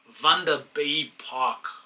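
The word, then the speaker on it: Vanderbijlpark: It took me a long time to pronounce Vander Bay Park without the word being read to me and hearing it from someone else. By just reading, I was like, yo, we're going to Vander Bay. Vander Bay, that was my thing back in the days, but obviously I've had my Afrikaans to learn a little bit, so now I know how to pronounce it.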